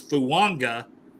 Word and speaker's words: Fuaga: not in there so when you pronounce his name it's fua even though it looks like fuaga so fua and Mims